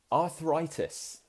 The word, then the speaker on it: arthritis: Waggy would like to know how to pronounce arthritis. Arthritis. That's how we say it in Britain. In Britain. Americans say it differently, but we say arthritis.